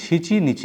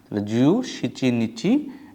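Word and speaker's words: 七日: ইউজ করব জু সিচি নিচি seven কে দুইভাবে বলা যায় একটা হল নানা এবং একটা সিচি তাহলে আমরা তারিখ বলার সময় আমাদের খেয়াল রাখতে হবে আমরা এখানে সিচি নিচি ব্যবহার করব সিচি নিচি এটা হয়ে যাবে আমাদের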